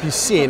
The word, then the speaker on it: Piscine: was impeccable thank you French so you seen it's like the letter P plus C so you head it